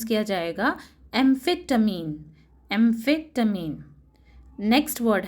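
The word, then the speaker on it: amphetamine: ये वर्ड को प्रोनाउंस किया जाएगा एम्फेटामीन.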